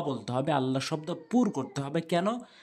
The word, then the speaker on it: আল্লাহ: আল্লাহ শব্দ পুর করতে হবে। কেন? আল্লাহ শব্দের ডান দিকে জবর আর পেশ থাকলে পুর হয়, মুখ গোল হয়। আর আল্লাহ শব্দ ডান দিকে জের থাকলে আল্লাহ শব্দটা লা উচ্চারণ হয়, তখন ল হয় না।